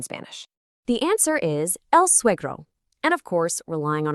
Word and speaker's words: suegro: We have a strong we sound followed by a gr. Practice saying it smoothly.